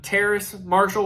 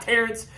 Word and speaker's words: Terrace Marshall: Terrace Marshall was one of them. I kept putting the N in there. It's not Terrence, but it's Terrace.